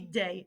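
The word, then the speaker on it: des: one it's gonna be day it's gonna be day no matter what um you might wanna put that this pronunciation kinda sounds like the word day might help you remember how to pronounce it so we have uh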